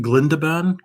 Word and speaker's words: Glindaban: Glindaban? Glindaban? I need to put the emphasis on the second syllable.